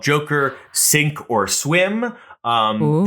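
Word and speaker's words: cinq: one is called Joker sink or swim um the word sink of course is spelled c i n q for the French word for five oh sunk or SW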